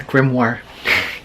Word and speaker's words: grimoire: Great magic and armoire rhymes with grimoire.